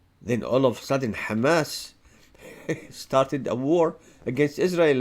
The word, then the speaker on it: Hamas: in the West Bank no Kamas this is how the Jews pronounce it Kamas there's no Hamas in the West Bank they killed still 250